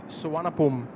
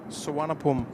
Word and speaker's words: Suvarnabhumi: Marianne, it's Suvarnabhumi. Suvarnabhumi is the pronunciation. It doesn't look like it, but it is Suvarnabhumi.